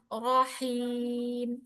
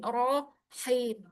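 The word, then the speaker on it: رحيم: Kemudian bismillahirrahmanirrahim rahim ya. Jangan dicuri hnya di ro jangan rahim tapi rohim.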